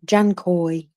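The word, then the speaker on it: Dzhankoi: pronounce this place um just pretend it's got a j basically janoy um so uh military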